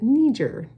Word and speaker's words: Niger: But actually, the Niger River is pronounced Niger because that area was established by French people, and so they pronounce it Niger, okay?